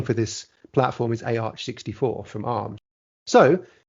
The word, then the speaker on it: AArch64: architecture is going to be called arch 64. that is how you actually pronounce it by the way so